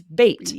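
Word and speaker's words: bate: like bat and then E is at the end, now it's bait, B A Breathe.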